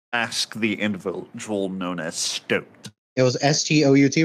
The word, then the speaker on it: Stoat: Yes, Stoat. S-T-O-A-T. Oh, it's like Stoat, but it's spelled like boat.